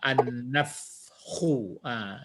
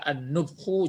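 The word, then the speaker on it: النفخ: Jadi ini dibaca Nafhu. ya, an-nafhu, gitu ya. Nafhu. Enggak mungkin pula dibaca an-nufhu, jarang, an-nifhu jarang. Jadi yang betulnya adalah an-nafhu.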